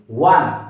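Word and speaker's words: one: ও এন ই ওয়ান, প্রথমে ওয়া উচ্চারণ হচ্ছে, তাহলে আমরা এখানে এ বসাবো, ঠিক আছে।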